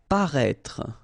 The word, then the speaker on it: paraître: Paraître, okay, same thing, final E is not really pronounced, so paraître.